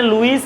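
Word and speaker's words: Louis: লুই icon বাংলায় বলে লুই আই খান এখানে লুইস আই খান বুঝা যায় এখানে লুইস আই খান বুঝা যায় ইংলিশে কিন্তু এটা বাংলায়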